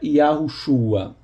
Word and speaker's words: Yahushua: eu concordo na verdade apesar do texto massorético falar e Russo a parece que antigamente a pronúncia correta era yahushua a observação Yahoo chuá